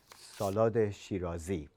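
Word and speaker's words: Salad-e Shirazi: The name of this salad in Persian pronunciation is salude Shiroi. Uh, Salod is salad and Shiro is a beautiful city in wester uh, central Iran.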